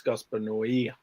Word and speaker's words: Gaspar Noé: Texas says no E. That's how it's pronounced. Okay. It's Gaspar Noé.